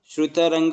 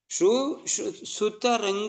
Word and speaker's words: ಸುತರಂಗ: ನೃತ್ಯ ಗೀತಾ ಅಂತೀವಲ್ಲ ತನ ಶ್ರುತರಂಗ ಬಾಜು ಶ್ರುತರಂಗ ಬಾಜು ಅಂತೀವಲ್ಲ ಇದು ತಪ್ಪು ಸುತರಂಗ ಸುತರಂಗ ಬಾಜು ಸುತರಂಗ ಬಾಜುರಂಗ ಶ್ರುತರಂಗ ಅಲ್ಲ ಅದು ಸುತರಂಗ ಅಂತ ಉಚ್ಚಾರಣೆ ಎಲ್ಲರೂ ಹಂಗೆ ಮಾಡ್ತಾ ಇರೋದು